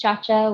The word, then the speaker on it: Ciaccia: And again, it's pronounced Ciaccia, which is a new finding for all of us in life.